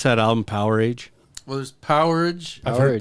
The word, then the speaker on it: Powerage: Does everybody pronounce that album Power Age? Well, there's Powerage. I've heard Power Power Age. Age and Power Age. Porridge.